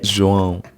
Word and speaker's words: João: João. Yes. He teach me before how to say it. Yeah. João.